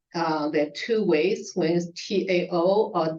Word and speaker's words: Dao: the two ways when Tao or Dao uh it's because of the pronunciation um to initially it's more like Tao but it sounds more in Chinese sounds more like da da da da so it